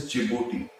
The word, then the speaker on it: Djibouti: This is Eritrea, and a country that starts with D but it is silent is Djibouti.